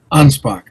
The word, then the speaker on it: Anspach: Ansbach. Ansbach. Okay. Not not not a a sho a ch at the end. It's a K.